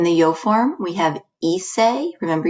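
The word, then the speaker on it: hice: yo form we have ise remember you don't pronounce the h at the beginning of a spanish word so you just start with the i ise is the yo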